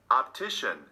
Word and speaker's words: optician: second syllable number 18 optician optician three syllables did you mark the second syllable number 19 detective detective